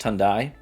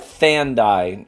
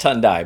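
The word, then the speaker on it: Thandai: uh she really liked I think it's pronounced tundi it's spelled like thandy but yeah I'm pretty sure it's pronounced tundi but it's spelled like Thy t h n d a i right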